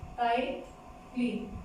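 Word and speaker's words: ptyalin: टाइलिन, इसमें P silent होता है।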